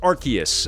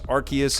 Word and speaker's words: Arceus: biggest one is pokemon legends arceus and it's pronounced arceus i've went back and forth was is it arceus i i looked it up online different people are calling it arceus but it's arceus as released in this latest trailer nintendo has